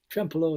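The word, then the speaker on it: Trempealeau: and um he's from trump trampalo trempelo wisconsin is that anywhere close yeah that's pronunciation that's pretty good pretty good triple oh it's uh it's a french word but trempelo is what we got yeah great and um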